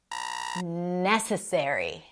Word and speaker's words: necessary: Necessary. Necessary. Not necessary. Necessary.